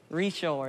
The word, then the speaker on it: Richard: typical louisiana accent like his last name is spelled richard with his recharge yeah a lot of them say richard over here richard and um what's cool